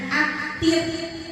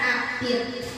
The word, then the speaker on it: aktif: Selanjutnya aktif, bukan aktif. Jadi perbedaannya ada di huruf. Kalau yang baku itu menggunakan huruf F ya. Kalau yang tidak baku P biasa. Jadi pengucapannya pun berbeda. Aktif, jadi bibirnya ditipiskan ya.